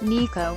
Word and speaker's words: NACHO: of hamat file organizations nacho pronounced Nikko convened in Chicago to